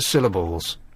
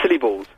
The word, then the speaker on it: syllables: I'll call you Mr syllables Mr sybles no syllables syllables as in things that make up words yes as in uh